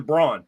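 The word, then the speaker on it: Braun: now they have Christian brown brown which is pronounced Brown the same way and he's he's stepping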